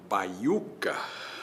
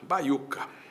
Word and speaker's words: baiuca: Se eu pegar uma palavra como baiuca, baiuca, no papel, na separação silábica, eu vou ter bai, u, ca. Na verdade, a emissão não é assim.